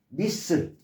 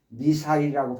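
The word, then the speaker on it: missile: 미스라는 어근이 들어가 있는, 미스가 샌드, 보내다라는 개념이 이런 어근이 들어가 있는 거, 미슬. 미사일이라고 발음하면 안 되고요. 미사일이라고 발음하지 마시고 미슬.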